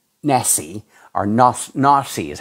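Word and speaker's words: נשיא: In biblical Hebrew, the word, and he's got it spelled out in Hebrew, Nasi, looks like Nasi, or Nasi is how he's got it pronounced, means prince, chief, ruler, and is also the modern Hebrew word for president.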